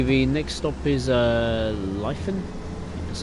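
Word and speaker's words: Lytham: the platform okay the next stop is uh lien that's how you say it it's just under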